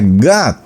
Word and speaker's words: God: o diría God, pero en inglés ellos hacen otra sílaba un poco mezclada entre la A y la O, que no es ni A ni es ni O, y se pronuncia God.